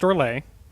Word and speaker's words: Orlais: It is pronounced Orlais.